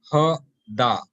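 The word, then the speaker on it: هدى: so the past tense word here is ha da right the ya is not there is no arab written on that but it is pronounced as alif maksura with the sound of an alif so the past tense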